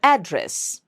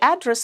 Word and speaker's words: address: Another very good example is address and address. So when you are asking for the address of a of a person sah house you stress on the first syllable what's your address or may I have your address please but when you are using that same word as a verb address could you please address this situation to this situation or